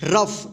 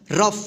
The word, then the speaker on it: rough: कैसे होता है, जैसे यहाँ पे देखिए ROUGH क्या होगा, रफ, क्या होगा, रफ। देखिए यहाँ पे फ का उच्चारण होगा यहाँ पे, ठीक।